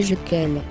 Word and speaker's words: Jequil: Cet homme s'appelait Jean-Pierre Jequil, prononcé Jequel.